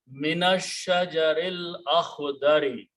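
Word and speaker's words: مِنَ الشَّجَرِ الْأَخْضَرِ: So when you read them together, minash shajaril akhdari. You don't pronounce this alif again.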